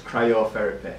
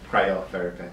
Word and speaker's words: cryotherapy: your career-wise sports i repeat how would you pronounce it so it's cryotherapy c-r-y-o therapist or cryotherapy so okay basically we're split into two and